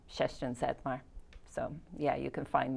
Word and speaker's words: Zettmar: main one is just my name chester and satmar so yeah you can find me there so